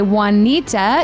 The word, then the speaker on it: Wanita: and her name is actually not spelled like the Spanish Wanita because her mom didn't know how to spell it apparently so apparently that's the story so it's spelled with the w it's spelled w n i t a oneita it's